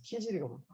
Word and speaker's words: 키질: 치질 아파서. 키즈야, 치질 아니고 키즈라, 키질이고.